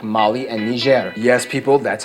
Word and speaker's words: Niger: colonies to the desert Holdings like Mali and Niger yes people that's how you pronounce it Niger not Niger not Niger and definitely not that offensive word